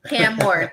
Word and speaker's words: Cam Ward: Just say Cam Ward. 2 syllables. Cam Ward.